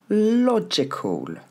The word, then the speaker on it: logical: Logical. L'accent tombe sur la première. La logical. Pas de i, toujours pas. Logical.